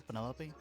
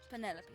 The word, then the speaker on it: Penelope: Is that short for Penelope? Officially, yes, but I never can be bothered with all 4 syllables of it. Penelope sounds a little ostentatious coming out of the mouth, don't you think?